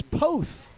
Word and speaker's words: Poth: needed a pronunciation check poth yeah and that quickly somebody came up to me tapped me on the head it's both like it was like p-o-a-t-h you say both all right here's another